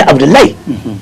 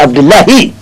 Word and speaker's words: Abdoulahi: Vous verrez avec les gens du Nigeria qui ils ont compris, vous ne verrez jamais Abdoulaye. C'est Abdoulahi.